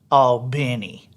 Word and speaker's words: Albany: town wrong even though when i'm in albany georgia i refuse to pronounce it all benny i j i just can't say that i just i can't i can't say that i'm sorry you know i hate